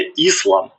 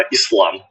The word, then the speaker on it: іслам: По-друге, по-друге, не іслам, а іслам. Наголоси давай правильно ставити.